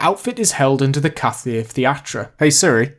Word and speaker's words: Café Théâtre: The outfit is held under the Café Theatre. Hey Siri, how do you say Café Theatre in French? In French, Café Theatre is Café Théâtre.